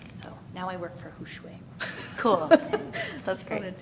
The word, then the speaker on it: Hushwe: We're doing business now as Hushwe, pronounced Hushwe.